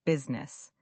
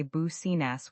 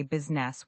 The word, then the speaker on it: business: Let's move on to another common word, business. Many learners say business with three syllables, but native speakers say business with just two syllables. The I sort of disappears.